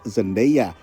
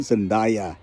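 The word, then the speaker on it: Zendaya: sering membingungkan di anaranya aktris zendea yang sering disalah lafalkan menjadi zenda lalu Barry kogen yang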